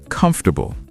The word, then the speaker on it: comfortable: Word number 6, comfortable. Comfortable. 4 syllables? No, 3 syllables. Comfortable. Drop the middle 4 sound. Comfortable, not comfortable.